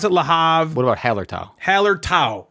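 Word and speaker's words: Hallertau: odin yeah i don't like that no please pronounce it lahav what about hellertal hallard tau right not hallertoe hailer top it's haller towel haller top pronounce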